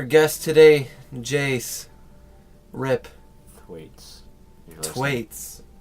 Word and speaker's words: Thwaites: Thwaites. It's Thwaites? Thwaites. It's a TH! The H is silent.